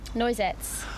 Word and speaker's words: Noisettes: Noisettes.